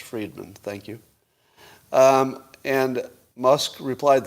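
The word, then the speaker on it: Fridman: him i'm seeing the it's pronounced friedman thank you and musk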